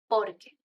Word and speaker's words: porque: It's not the same por qué and porque. Even in the pronunciation, you have por qué, por qué. And the answer is porque, porque. So the stress, por qué versus porque.